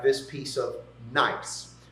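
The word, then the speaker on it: gneiss: like this piece of nice. Uh that's spelled G N I SS, but you can remember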